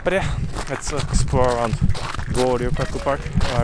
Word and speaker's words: Goryokaku: But yeah, let's explore around Goryokaku Park. Am I pronouncing it right, Judy?